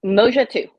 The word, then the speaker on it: Moja Tu: Is it Moja Tu? Am I mispronouncing it? Have I been? Moja Tu. There you go.